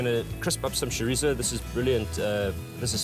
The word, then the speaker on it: chorizo: Yeah, but the K is never an option. You can't ever call it chorizo.